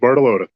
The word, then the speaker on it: Bartolotta: can't say it fluently bartolota hello is that how do you say your last name exactly how you say it Bartolotta bartoloda bottle loader thank